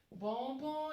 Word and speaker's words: bonbons: Bonbon is a type of dessert, so that's bonbon. S is not supposed to be pronounced, it's simply bonbon.